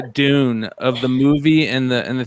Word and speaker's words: Dune: Like the name Dune of the movie and the thing. How do you say that? June?